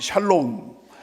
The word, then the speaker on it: 샬롬: 다 같이 샬롬. 발음은 잘하셔야 돼요. 잘못하면 예. 욕이 됩니다. 샬롬. 예. 향로움이 아니고. 예. 죄송합니다. 다 같이 샬롬.